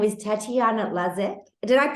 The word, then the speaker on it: Slezak: Her name is Tatiana Slezak. Did I pronounce it right, Tatiana? Well, if we are really picky, because I'm Polish, it should be Slezak, but in Australia, it's Slezak, apparently.